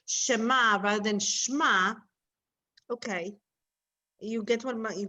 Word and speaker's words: shema: now so sorry so i know that a lot of people know this word shma to hear shema or shema have you heard that you know when we say shema israel so some people say israel but actually the correct way to pronounce it is shema the word we say